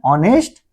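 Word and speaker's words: honest: तो इसका उच्चारण ऑनेस्ट अ मेरा स्वर।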